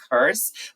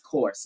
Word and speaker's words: course: of this word okay I constantly see people saying curse but a curse is something else okay a curse is